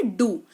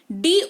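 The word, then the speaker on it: do: डी ओ लिखते हैं पर पढ़ते हैं इसको डू है, ठीक है। इसीलिए मैं कह रही हूं, जब मैं बोल रही हूं ना उच्चारण, तब यहां पे देखो, क्योंकि डी ओ है। अगर आपने नहीं सुना, नहीं देखा, तो आप डो पढ़ोगे, विच इज रॉन्ग। इसको डू पढ़ते हैं, इसका मतलब होता है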